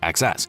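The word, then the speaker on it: XeSS: Intel's XS pronounced XS uses AI via Intel's XMX matrix units to upscale from lower resolutions.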